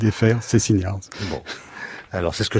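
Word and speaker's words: Szczeciniarz: Alors, à la polonaise, puisque c'est un nom polonais, donc ça se prononce comme C-H-T-C-H, c'est le ch. Donc ça fait Szczeciniage.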